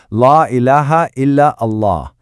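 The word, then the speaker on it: لا إله إلا الله: So, here you can see the declaration in English, in Arabic script, how it's pronounced, La ilaha illa Allah, and also in Urdu.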